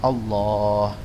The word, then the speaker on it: Allah: Namun sebenarnya cara bacanya harus panjang seperti ini. Allah, ya, seperti ini. Cara bacanya harus panjang. Barakallahu fikum. Taib. Jadi ini berkaitan dengan lafaz Allah. Meskipun pada sebagian teks lamnya pendek, namun tetap dibaca panjang.